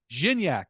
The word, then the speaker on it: Gignac: it jinny jinny actually jinny all right well zinyak I had to get that pronunciation proper and I did and you guys